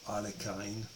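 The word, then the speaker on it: Alekhine: because he beat uh alakin or Aline as the Americans say it um in a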